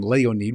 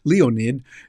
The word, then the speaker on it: Leonid: That's how you'd pronounce it in Russian. Leonid. We'd say Leonid. Leonid here in the United States, but they pronounce it there.